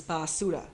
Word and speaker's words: basura: because a lot of music out here is basura.